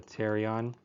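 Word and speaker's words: pterion: teron over the here the teron with a silent p a hard P I guess terion right so it's going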